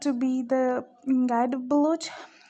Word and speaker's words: Baloch: So the pronunciation of this word is Baloch, and it is divided into Western, Eastern, and Southern Balochistan.